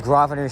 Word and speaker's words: Grosvenor: I think we were in the Bay Clover Hill district, and here's Grosvenor Street, but we already went over the pronunciation. The S is silent.